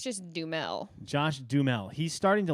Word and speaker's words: Duhamel: i think it's just dumel josh dumel he's starting to look like him to me do you see it at all you're saying his name how it's spelled and it's just josh dumel josh and he is